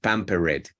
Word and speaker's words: pampered: hey polka polka and careful with the Eds at the end that's diminishing your speed because you add extra syllables pampered yeah Pam prepare it